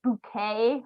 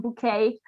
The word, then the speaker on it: bouquet: Bouquet comes from French. The English usually pronounce it like bouquet or something like that.